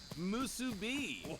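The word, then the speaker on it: musubi: of seaweed rice and that salty salty pork musu be oh you nailed the pronunciation brother if you can call it pork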